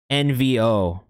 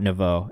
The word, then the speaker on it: Envo: squar is up next pronounced nvo sorry not Novo nvo let us know what